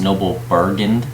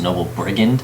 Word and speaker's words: Noble Brigand: Just so everyone knows, this card is not pronounced Noble Brigand, it's pronounced Noble Brigand.